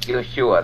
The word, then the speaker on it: Yeshua: other words um like Yeshua that's I mean his name was Yeshua um it wasn't Yus